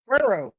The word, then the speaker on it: Cuero: Can somebody please tell me how to pronounce this school's name? Cuero. Is what? Cuero.